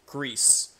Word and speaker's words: GRIS: So if you pronounce it like with a way Spanish is spoken, it's GRIS. Because the letter I in Spanish has a hard E sound to it.